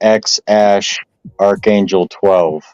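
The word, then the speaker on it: X Æ A-12: name is weird because it's the A and the E together which I think is like Old Norse or something for Ash and the last one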